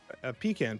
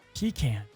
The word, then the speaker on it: pecan: I thought you were gonna go more down the how do you say pecan or pecan pie? Pecan pie. Pecan. My wife says pecan. I call it pecan.